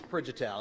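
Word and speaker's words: Prijatel: i have no idea how to say your last name it's prejitel it's a shreveport name how do you spell that okay it's p-r-i-j-a-t-e-l yeah that's shreveport yeah it's that no it's it's slovenian so this is it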